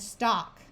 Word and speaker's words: stalk: This works even if the L in the word is silent, like in palm and stalk.